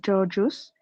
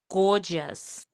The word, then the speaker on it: gorgeous: first, she thought he just found her Georgios, so Okay, she there's another word. The with mhm. the pronunciation is gorgeous.